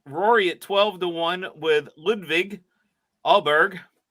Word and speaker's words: Åberg: Rory at 12-1 with Ludwig Åberg. Åberg. You heard 84 different pronunciations of his name this weekend. Åberg's the correct one.